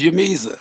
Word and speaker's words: J'mezah: They pronounced it like yeah, like a Y. So that's the Yamiza.